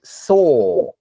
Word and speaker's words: saw: There's no consonant sound at the end. So this word is pronounced saw. Saw. Right. So it's got two sounds. You've got the s sound, right? And then you have the vowel, which is or.